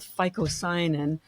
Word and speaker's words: phycocyanin: It's called phycocyanin. I'm going to spell that for you because you would never know about it.